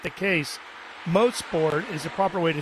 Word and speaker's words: Mosport: Mosport is a proper way to say, and it stands for motor sport.